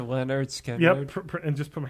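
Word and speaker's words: Lynyrd Skynyrd: Sick ass, the first one, pronounced to Leonard Skinner.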